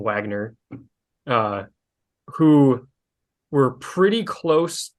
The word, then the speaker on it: Wagner: the Wagner group uh spelled with a W so everyone calls him Wagner uh who were pretty